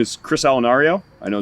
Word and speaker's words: Allunario: So my name is Chris Allunario.